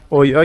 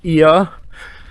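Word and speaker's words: Oia: دوباره برگشتیم توی کلدرای اویا که البته تلفظ درستش هست ایا این دفعه اومدیم برای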